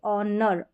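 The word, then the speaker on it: honour: आर को अर जैसे ऑनर ऑनर ऑनर यहां पर एच जो है ना साइलेंट है ओ आर ये आपको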